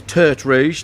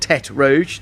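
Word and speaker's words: Tertre Rouge: the red hill as it is T rouge not Tet Rouge not redhead red hill yeah no you you said it right a lot of people down.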